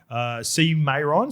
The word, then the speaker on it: CMAEORN: So when that does arrive, C Mayron, so it is spelled, Lukey's got it here, CMAEORN.